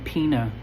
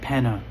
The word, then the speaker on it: Penna: And to this day, when people pronounce my last name Pina, I say, no, it's Penna, as in the Penetrator.